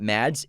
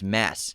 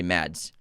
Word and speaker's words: Mads: It's not Mads, it's Mass. Mass? He pronounces it Mass. Oh, wow. But he doesn't mind if people say Mads.